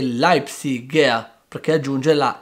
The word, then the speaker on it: Leipziger: esempio diciamo lightsey però l'abitante di lipsia e leipziger perché aggiunge la r dopo la g quindi concludendo la pronuncia tedesca non è così complicata non è